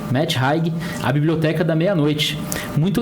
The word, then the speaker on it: Matt Haig: A gente buscou aqui a informação, o autor é Matt Haig, assim que se pronuncia, Matt Haig, A Biblioteca da Meia-Noite.